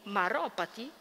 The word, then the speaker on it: Maropati: po' difficile e pronunciarlo so che cade l'accento sulla o quindi maropati che soprattutto Negli anni